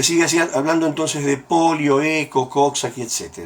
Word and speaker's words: ECHO: se encontraron y los virus es como se pronuncia eco y no he hecho eco no se encontraron